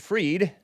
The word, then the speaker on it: Fried: that anyway he says Sam bankman freed which is spelled fried is Jewish which means